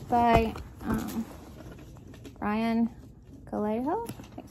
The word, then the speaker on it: Calejo: And it's by Ryan Calejo.